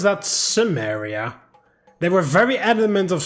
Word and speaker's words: Cimmeria: do they pronounce that Samaria they were very adamant of saying the salukit empire during their voiceovers and then they hear they say simaria shouldn't it be kimeria like what the hell